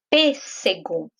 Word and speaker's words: pêssego: Qual é a sílaba mais forte? P. Aqui tem até uma dica, porque a sílaba P já está acentuada. Então, eu já sei que a sílaba que tem o acento é a sílaba tônica, ou seja, é a sílaba mais forte. Então, pêssego. Ela é a antepenúltima. Então, por isso, essa palavra é proparoxítona.